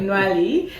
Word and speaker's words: Ntwali: I thought it wasn't TWI until I heard you pronouncing Nali and he is the CEO of Bank Innovation founded in Randa now expanding into Uganda.